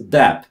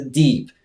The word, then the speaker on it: Depp: Poprawna wymowa jego nazwiska to Depp. Nie mówcie nigdy Deep.